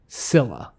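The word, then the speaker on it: Csilla: the chess planet so i can either go with a silent c or i can pronounce the c real quickly i'm gonna go with silent c is is the capital called cilla yeah it's silent okay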